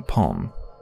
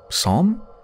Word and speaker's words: psalm: The cursing palm. Psalm? That's pronounced psalm, isn't it?